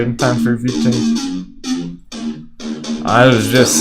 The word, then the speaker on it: VeChain: VChain is real people trying to make it happen, who are making it happen.